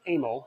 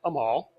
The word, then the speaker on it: Amal: the concentric carbs and the proper pronunciation in my book is Amo not Amal or any other area of iteration that we hear and drags me nuts